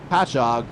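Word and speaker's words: Patchogue: And it turns out I actually did do the prep work on Almani's hometown pronunciation. So that's Patchog, New York.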